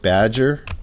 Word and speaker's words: Badgr: the filter by name you're gonna type badger which is spelled BA D gr there it is oops